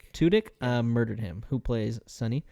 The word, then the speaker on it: Tudyk: Tudyk, murdered him, who plays Sonny.